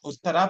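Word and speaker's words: उत्तरा: younger sister called Uttara, Uttara with a dirgha at the end, elongated syllable.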